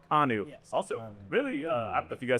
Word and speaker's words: Kanu: Taught us in our interviews with Hero that it is not Kanu. Not Canoe. It's Hero Kanu.